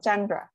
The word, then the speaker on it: Tjandra: So TJ is pronounced like a C. Okay, yes. It's a C.